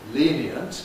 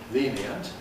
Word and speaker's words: lenient: And the problem is does lenient consist of three syllables or does it consist of two syllables? And I think the answer to this question is that you can say it either way.